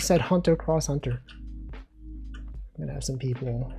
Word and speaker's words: Hunter x Hunter: This is where you go, Wolfie, you don't pronounce the X, bro. He said Hunter x Hunter.